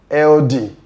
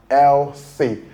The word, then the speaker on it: healthy: Many people pronounce these words as weldy. eldy. The correct pronunciation for these two words is number one, wealthy, and the other one, healthy. The th sound there sounds as not the or de.